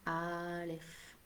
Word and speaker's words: Aleph: On le prononce Aleph.